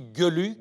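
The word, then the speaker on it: Geluck: On dit Gueluc, Gueluc, Gueluc, Gueluc.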